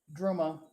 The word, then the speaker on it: Druma: It's pronounced Druma, like drummer. Oh, okay.